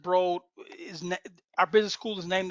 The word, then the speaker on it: Broad: Um, I graduated from Michigan State College of Business, and Eli Broad, he pronounces it Broad, our business school is named after him.